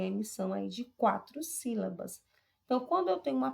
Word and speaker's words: sílaba: A própria palavra sílaba, sílaba, você observa que o si é a sílaba mais destacada, ela se destaca mais do que as outras.